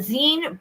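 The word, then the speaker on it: Senne: Okay, so this one this one says uh the Zen Brussels Belgium that river which is the Zen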